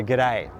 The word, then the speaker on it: g'day: what we do is we reduce those two words into really just one so the good becomes good and the day stays there and we say g'day and when you add that bit of pronunciation with the Australian sort of vowel it has a very particular characteristic and it's become really